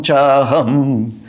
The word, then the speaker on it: चाहम: बलम बलवतां चाहम, च अहम से चाहम, कामराग विवर्जितम, बलम बलवतां चाहम कामराग विवर्जितम।